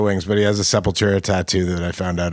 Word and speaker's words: Sepultura: Oh, it's like actually a Spanish word. Well, Portuguese, I guess.